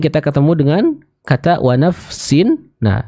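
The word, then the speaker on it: نفس: ketemu dengan kata Uwa nafsin nah nafsin di sana cara membacanya adalah kita sempurna nufa yang syukurnya terlebih dahulu sebelum kita pindah ke huruf Sin 6 biasanya saya sering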